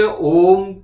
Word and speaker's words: ओम: ओम तो आपने ये देखा कि कैसे हमने ये ओम के बाद म का उच्चारण किया, ठीक है।